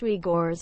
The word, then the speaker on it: Uyghurs: vulnerability to become slave the uyghurs pronounced we gores are a muslim ethnic